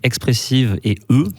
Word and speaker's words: Expressive E: travaille pour la boîte expressivie donc expressive et E plus loin mais il faut le prononcer à l'anglaise comme tuas un accent du Texas et donc du coup